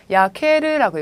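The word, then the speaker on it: 焼ける: 야케르라고 읽어주시죠. 야케르.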